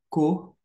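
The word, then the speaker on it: כֹּהֵן: cima neste caso aqui então aqui você tem o som de cor mais uma vez aquele o sonzinho semelhante ao H em inglês e o e embaixo e por fim o n na forma final a transliteração mais próxima ficaria cor sacerdot nós estamos finalizando Vamos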